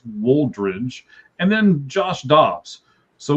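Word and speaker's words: Woldridge: W O L D R I D G E. I'm want to make sure that that I pronounced that right. At least I think so. It's Waldridge.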